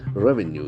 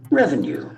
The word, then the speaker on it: revenue: Revenue is a beautiful word where the accent falls on the first syllable. Revenue.